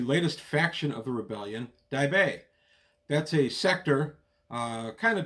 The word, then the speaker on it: Daibei: I realize Daibei can be pronounced a few different ways. I'm going to be calling it Daibei. If you pronounce it some other way, that's fine.